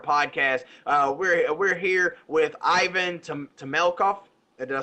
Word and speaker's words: Temelkov: We're here with Ivan Temelkov.